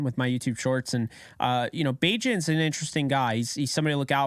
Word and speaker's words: Bagent: They're hostile if you say that name wrong. I said Badgett and they came at me, but this is somebody